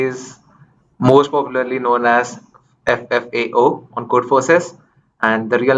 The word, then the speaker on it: ffao: I say it as four letters. You say it as? Four letters. FFAO.